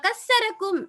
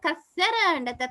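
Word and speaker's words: كثّركم: விளங்கிக்கொள்ளனும் என்று சொல்றேன் ரைட் இப்ப கஸரக்கும் என்று சொன்னால் உங்களை அல்லாஹுத்தஆலா நிறைய நிறைய அதிகமான ஆட்களாக மாத்தினான் நிறைய பேர் ஆக்கினான் இதை நீங்க கசர கசர என்று உச்சரிச்சுட்டேன்னு வைங்க அப்படி உச்சரிச்ச உடனே என்ன நடக்குது என்றால் உங்களை அல்லாஹுத்தஆலா துண்டு துண்டா உடைச்சு போட்டுட்டா அர்த்தம் ஆயிடும் அங்கின கசர் என்றால் உடைச்ச அரபுல அர்த்தம் அப்ப அங்கின அர்த்தம் மாறிடும் சரியா அப்ப இதை வந்து அல்ஹனுல்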